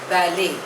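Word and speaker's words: ballet: इंफिनिटम next word is बैले spelling is बी ए एल एल ई टी बट the pronunciation is बैले इट इज अ French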